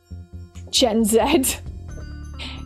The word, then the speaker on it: Gen Z: Yeah, I don't know why we always call call it Gen Z even though in the UK we don't pronounce the letter zed as Z. We pronounce it as zed.